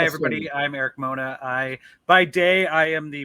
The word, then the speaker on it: Mona: Did I pronounce it anywhere close to the realm of Eric right? Mona. Yeah, you got it right. Hi, Yes, everybody. sir. I'm Eric Mona.